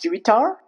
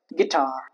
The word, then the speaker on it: guitar: Guitar. It's not guar. But guitar.